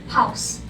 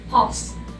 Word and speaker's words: pause: Next is the word pause, which is the hardest word to pronounce, pause. But the right pronunciation is actually pause.